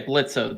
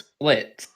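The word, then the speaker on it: Blitzø: of a boss and you don't even say blitzer the o is silent it's split oh damn it i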